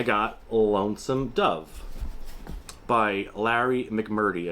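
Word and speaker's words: McMurtry: I always say his last name wrong. And let's just take a quick little look at the synopsis. Hopefully, it is back here. A love story, adventure, and an epic. See, an epic story of the frontier. That's exactly what I was interested in when I bought this last year. Larry Mc Merry's, See, I did say it wrong before. I said McMurdy. It's Mc Merry.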